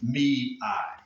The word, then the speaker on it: Mei: She uh basically every May every May goes out and gives us what's known as melting me. That's right. That's exactly how it's spelled. Melting me. Mi.